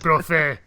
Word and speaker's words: Brophy: Is it Brophy? It's a trophy with a B.